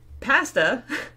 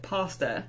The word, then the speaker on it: pasta: But the word pasta stops at the border because everyone in the United States pronounces it pasta.